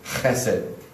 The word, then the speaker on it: chesed: it's all over the Old Testament, and it's pronounced chesed.